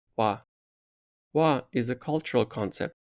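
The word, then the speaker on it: 和: Speaking of harmony, in Japanese language it's pronounced wa.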